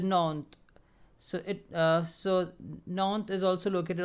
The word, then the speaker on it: Nantes: And this is river Loire, and Nantes, S is silent, so it is pronounced as Nantes.